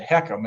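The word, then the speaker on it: HECM: which by the way you mentioned accm we pronounced that hecam and it stands for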